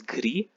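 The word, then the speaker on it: gris: so the masculine is gree the s is silent gree the feminine gets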